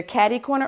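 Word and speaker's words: catty-corner: That's why it's spelled that way, but instead it is either catty corner or kitty corner.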